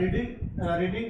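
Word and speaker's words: read: अच्छा, रीड की third form spelling same होगी और तलफ़ुज़ चेंज होगा, रेड पढ़ा जाएगा, English is being रेड, English is being रेड।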